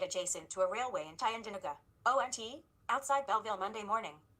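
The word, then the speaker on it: Tyendinaga: Police move in on blockade in Tyandaga, I believe is how it's pronounced. Is it Tyandanuga, that's how it's pronounced.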